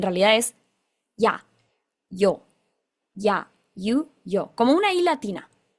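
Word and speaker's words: ゆ: Aires o de Montevideo, no pronuncies esta Y como si fuera una SH. Nosotros tenemos la tendencia a decir ya fui o yo soy y es como si suena como si fuera una SH. Bueno, no, en realidad es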